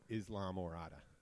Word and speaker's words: Islamorada: anybody in Morada but when anybody asked how to pronounce Murata and they send him and they're going down there I tell him Islamorada well that is how you say it in Spanish he's no Mirada no